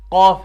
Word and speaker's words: قاف: قاف، کچھ اس کو کاف ہی پڑھ لیتے ہیں، ایسے ہی جیسے دوسرا کاف ہے، یہ والا کاف اس کی طرح پڑھ لیتے ہیں، لیکن اس کا تلفظ الگ ہے بالکل اس سے۔ تو اس کا کیا ہے؟